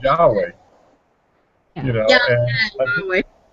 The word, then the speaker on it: Yahweh: It's a mispronunciation of a bad translation. Yeah. You know, it was, you know, But if the Hebrews refer to the name as Yahweh.